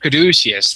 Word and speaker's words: Caduceus: Caduceus.